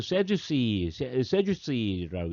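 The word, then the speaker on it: Sadducees: 자, 사두개인들, 영어는 세주스이라고 읽죠.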